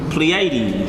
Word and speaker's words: Pleiades: stars in all right or pl how you pronounce that pleiades pleiades when you look at the word pleiades it